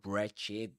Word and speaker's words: wretched: When a word begins with wr you say r only. You forget. You don't pronounce the W.